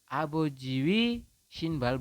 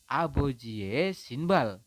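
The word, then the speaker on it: 아버지의 신발: dibacanya Bukan abojie Ya abojiwi shbal bukan ya tetapi dibacanya adalah abojie sinbal artinya adalah sepatunya jadi e-nya ini artinya adalah nya teman-teman sebagai kata ganti kepemilikannya aboj sinbal membacanya seperti itu tetapi di sini kan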